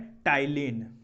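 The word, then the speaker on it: ptyalin: है पहला कॉम्पोनेंट है तिलन इसमें पीस साइलेंट रहेगा एक है आपका तिलन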